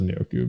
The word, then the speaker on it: Njoku: I thought it was Njoku, but it's Njoku. Whatever.